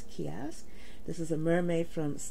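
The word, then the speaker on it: ceasg: this one kiosk and it's spelled c-e-a-s-g but i saw the pronunciation as kiosk this is a mermaid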